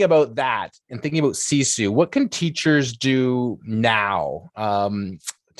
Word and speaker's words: sisu: I think you pronounce it Sisu. Sisu.